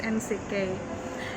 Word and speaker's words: NCK: UKM yang saya miliki namanya NCK, singkatan dari Nitas Collection Kupang, NCK, tapi bacanya pakai pelafalan bahasa Inggris NCK.